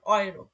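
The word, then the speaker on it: Euro: ওকে, তারপরে এখানে আছে এ, এই যে এ, এর পরে যখন উ থাকবে তখন এর উচ্চারণ হবে অয়ে, অয়ে, যেমন অয়রো, ইউরো মানে ইউরো, এটা হচ্ছে জার্মানের মানে টাকা মুদ্রার নাম ইউরো।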